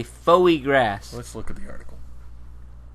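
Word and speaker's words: foie gras: tested pumpkin s fagra it's pronounced fo grass fagra it's clearly Foy grass let's look at the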